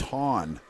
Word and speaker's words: Hahn: Well, it's good fodder for the water cooler, but I hope I haven't been pronouncing his name wrong, but they did announce it as Hahn.